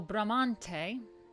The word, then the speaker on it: Bramante: So Bramante, the leading architect of this classical revival style at the opening of the century, was Donato di Angelo Bramante.